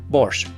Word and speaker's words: борщ: But let's see how to make classic borch which by the way in both Ukrainian and Russian is written and pronounced without the t borch.